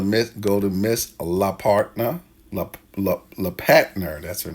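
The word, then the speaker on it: Lellepatner: And the first, make sure we spell it right. L E L L E P A T N E R. So L E P A T N E R is La Patner.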